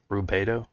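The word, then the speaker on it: Rubedo: Um, then there's Junior or Rubito, pronounced Rubo.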